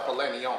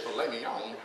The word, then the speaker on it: filet mignon: My friend's like, I'll have the filet mignon. I said, shit, filet mignon? There's a silent T in that bitch.